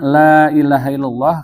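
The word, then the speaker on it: لا إله إلا الله: Makna la ilaha illallah kalau ditulis ya dengan bahasa Arab lam alif la itu ya sebut mad tabi'i, tapi karena menghadapi huruf alif itu disebut mad jaiz munfasil. Jadi bacanya 6 harokat.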